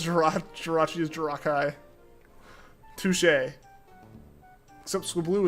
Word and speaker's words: Jirachi: Alternate Jirachi pronunciation. Jirachi, but the chi is pronounced Kai. Jirachi? Yeah, no. No, it's Jirachi.